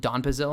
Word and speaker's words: donepezil: Donepezil, I initially for the longest time pronounced it donepezil, and by the longest time I literally mean like an hour ago before I looked up the pronunciation when recording this video.